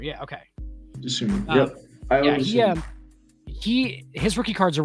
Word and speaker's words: Dosunmu: I say it Dosunmu. Dosunmu. Yeah. Okay. Dosunmu.